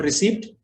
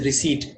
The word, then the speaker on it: receipt: It's not receipt, it's a receipt. The P is silent.